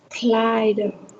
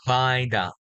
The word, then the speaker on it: glider: Now, there are two words I want you to pronounce again. First of all, this we call it a glider. Clyde, Yes, one more time, a glider.